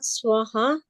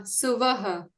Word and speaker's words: Suvaha: Is it Swaha then, not Swaha? No, not Swaha, Suvaha. Yeah, It so is always Suvaha.